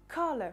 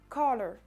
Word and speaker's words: color: Si je le prononce avec l'accent britannique et la prononciation britannique, l'accentuation se fera sur la première syllabe, donc sur le K de color, et la prononciation sera color, color, color.